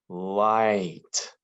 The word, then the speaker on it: light: like this oh i this might be the trickiest way because we don't hear the g or the h those are silent i g h makes the i sound light let's practice our high